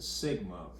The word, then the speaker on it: sigma: This is pronounced mu, and this is pronounced sigma, and they're both the lowercase incarnation of them.